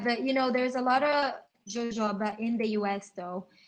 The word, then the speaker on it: jojoba: And yes, because it's in California, it's in Mexico too, so it's probably the right pronunciation is jojoba. I mean, it's a J, so it's a J. It's a jojoba, jojoba. Yeah, but just like vetiver, it's a shrub, right?